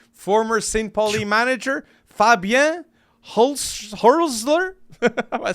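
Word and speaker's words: Hürzeler: Pauli manager Fabien Hurtzler. Am I saying it right? Hurtzler. Yeah, Hurtzler.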